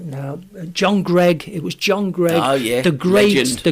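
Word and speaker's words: Greig: or two and joh and Ken pronounced his name U uh Ken said it was John sorry John he said John Greg and I said it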